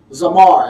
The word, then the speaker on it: zamar: The word for prune, the Hebrew word we're using is zamar. It's spelled Z-A-M-A-R.